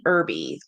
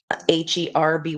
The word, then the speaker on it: Herby: It's Queen Irby, but it's spelled with a V. So it's at bottom here, Qveen and Herby, like the love bug, but it's said with that like herbs, right?